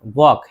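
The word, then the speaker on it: walk: टॉक और वॉक ये बहुत से लोग गड़बड़ पढ़ते हैं, टॉल्क बोलते हैं, नहीं चॉक है, वॉक है।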